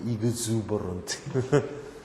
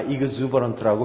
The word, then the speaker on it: exuberant: exuberant. X라기보다 exuberant라고 외우셔야 돼요. 다시 한번 exuberant라고 외우십시오.